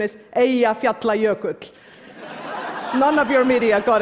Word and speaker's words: Eyjafjallajökull: By the way, the pronunciation is Eyjafjallajökull.